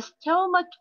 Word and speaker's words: stomach: A stomach ache, a stomach ache. Stomach معدة. أيضا هوني C K C H ننطقها ك.